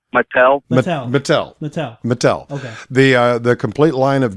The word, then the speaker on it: Mattel: I always mispronounce it. Jack? No, it isn't Jack. I think it's Martel. Mattel.